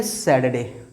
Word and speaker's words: Saturday: ये सैटरडे नहीं है भैया, बाबू, सर जी, मैडम जी, यह है सैटरडे। क्या है? सैटरडे। इसमें क्या है? UR साइलेंट रहेगा।